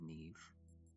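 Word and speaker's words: Niamh: Did it say Niam? Nime? Nia? Could be Nia, maybe. But I think traditionally it's Neve.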